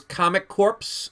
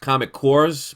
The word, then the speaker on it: Comic Corps: YouTube channels name is comic corpse Co RP s like an Army Corps so it's actually pronounced comic cores but I didn't want